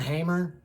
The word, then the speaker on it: Hammer: I read somebody who said that if you're going to pronounce his first name Jan, then you really should pronounce his last name with like the Czechoslovakian accent that it originates from. So that would be Hammer, Jan Hammer, Jan Hammer.